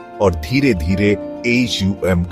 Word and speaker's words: ॐ: गहरी सांस लें और धीरे धीरे AUM का उच्चारण करें। अ ध्वनि को अपने पेट से शुरू करें, ऊ ध्वनि को अपने सीने तक लाएं और अम ध्वनि को अपने होठों से बाहर निकालें।